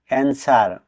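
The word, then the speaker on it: answer: এন এস ডব এ আর এনসার অর্থ উত্তর এখানে ডাবলিউ লেটার ডি সাইলেন্ট থাকবে মানে উচ্চারিত হবে না এ ওয়ার্ডটিতে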